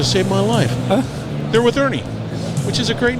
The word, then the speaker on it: Erni: Ernie Ernie that's e r n i yes Ernie how come I couldn't get I could put that together to save my life they're with Ernie which is a great name I like it